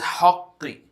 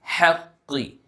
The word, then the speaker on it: حَقِّ: Now in the word bil haqqi, don't say it as haqqi, haqqi, not that way. It is haqqi. Since ha is a light letter, so you have to be mindful and not confuse it by pronouncing it as a heavy letter.